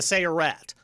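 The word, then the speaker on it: Sayeret: You're in the recon unit, the let me see if I pronounce it right, the Searat.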